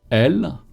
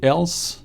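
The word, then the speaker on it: elles: one which is feminine l make sure not to pronounce the s at the end of l even if it's very tempting you want to say else stop no more it's over is there a difference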